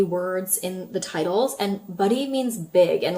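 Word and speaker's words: Badi: note about the pronunciation for this mascara because it's spelled B A D I which I foresee a lot of people calling baddy but it's buddy because Kofi is a South Asian brand and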